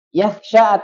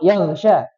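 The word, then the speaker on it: يخشى: Wa huwa yakhsha atau yaghsha?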